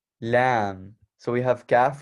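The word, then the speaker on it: لام: then next we have the letter lamb so basically like very you know like lambed animal that's exactly how it sounds but uh we're going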